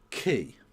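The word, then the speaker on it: quay: It's pronounced key.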